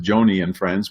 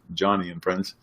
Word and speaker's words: Joni and Friends: Some of you might pronounce it Joni and Friends, but historically her dad wanted a boy. That's why it's pronounced Johnny and Friends.